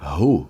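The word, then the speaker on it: הוא: soma 12 a palavra ru escreve-se re V Alef esse Alef no final ele não se pronuncia mas é como se fosse um som engolido uma pausa então a pronúncia da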